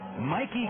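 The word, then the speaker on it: Mayke: left-handed hitting third baseman Mikey Cabrera he goes by Mike but it's spelled m a y ke a most unusual spelling of the name Mike and here he is here's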